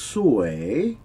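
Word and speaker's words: สวย: Now, the word for beautiful is sue. It's a rising tone.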